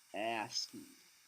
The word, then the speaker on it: ASCII: This is pronounced ASCII.